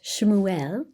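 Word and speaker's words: Shmuel: And even the name Samuel pronounced Shuel is made up of the two words Shem which means name and L which means God.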